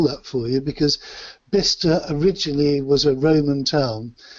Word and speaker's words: Bicester: That was at Bicester in the UK. Now, I'll probably have to spell that for you because Bicester originally was a Roman town. So it's pronounced Bicester, but it's spelt Bicester.